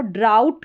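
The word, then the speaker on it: drought: पढ़ा जाता है और ये पूरी स्पेलिंग का प्रोनाउंसिएशन यहां पर दे रखा है। इसको ड्राउट करके प्रोनाउंस करेंगे और ओ यू जी एच आउ इसका उच्चारण है।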